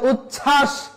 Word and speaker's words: উচ্ছ্বাস: কোন উচ্চারণ হবে না সেজন্য উচ্ছ্বাস দ্বন্দ উজ্জ্বল এখানে কোথাও ব এর উচ্চারণ হয়নি তাহলে আমরা কয়টা নিয়ম